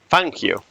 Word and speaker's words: Fangio: can only say that Fango is actually pronounced fangu oh no f f